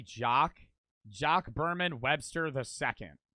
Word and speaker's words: Jacques: That would just be Jacques.